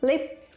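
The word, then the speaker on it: 𨋢: standing so standing machine and pronounced lip from English lift when adopting words from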